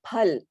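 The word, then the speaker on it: फल: I said that the the letter is pronounced as per and not as fur there is no fur sound so you say pal right which is fruit and you say pool which is flower it's not full it does not fall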